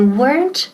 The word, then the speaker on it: weren't: They weren't hungry. Now, ojo, la pronunciación, weren't. Una sílaba, no dos. No decimos weren't ni weren't, ok, decimos weren't, weren't, y con T al final.